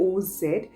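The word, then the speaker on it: ounce: जा जो यहां पे इसकी शॉर्ट फॉर्म उसे हुई हुई है ओस ठीक है इसको ओंस प्रोनाउंस करेंगे तो बेसिकली ये एक मेजरिंग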